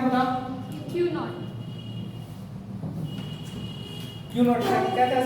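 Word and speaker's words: Cuénot: क्यू नॉट। क्यू नॉट क्या क्या spelling बताओ?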